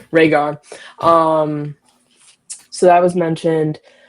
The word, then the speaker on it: Rhaegar: Um I don't know how to say his name, but it's like Ray Rhaegar. I don't know. Perfect. Rhaegar. Okay, cool. Rhaegar.